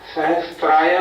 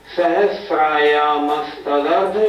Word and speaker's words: सहस्रायामस्तदर्ध: प्रथमो योजन सहस्राया, सहस्राया नहीं, सहस्रायामस्तदर्ध विष्कंभो हृदः। प्रथमो योजन सहस्रायामस्तदर्ध विष्कंभो हृदः।